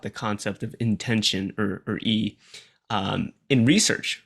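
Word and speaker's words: 意: So it's Uh, often translated as E, pronounced E, yes. but it's written as YI, transliterated.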